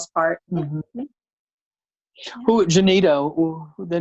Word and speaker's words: Genita: You know, with my Ebonic drawl, I mean, am I saying it right, Genita? You're saying it exactly right. Okay. That's it, Genita. I thought you were gonna say no. It's pronounced Genita.